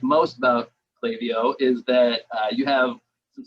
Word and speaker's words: Klaviyo: I say Klaviyo from the Pacific Northwest. Apparently we talk funny. I don't know. A lot of people pronounce it Klaviyo.